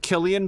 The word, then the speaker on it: Cillian: I'm going to go with Killian, by the way, because that's how Cillian Murphy's name is pronounced.